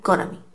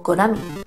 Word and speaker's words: Konami: Obviamente este juego es de una de las marcas más conocidas de aquella época, que era Konami. O Konami, depende de la pronunciación.